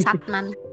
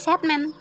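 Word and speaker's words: Sadman: Makanya namanya jadi Satman. Aneh ya. S A D M A N lagi orang luarnya bacanya tuh namanya setman.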